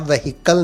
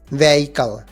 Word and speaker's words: vehicle: Note कर लें, इसे आप व्हीकल नहीं पढ़ेंगे बल्कि एच इसका साइलेंट होगा. व्हीकल.